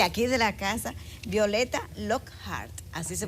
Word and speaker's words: Lockhart: Violeta Lockhart, de aquí de la casa, Violeta Lockhart, así se pronuncia tu apellido, ¿verdad?